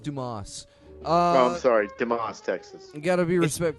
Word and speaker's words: Dumas: the show signed Stern fan zero 1 from dumbass Texas Wow it's pronounced Dumas oh sorry Tim AHA's Texas you gotta be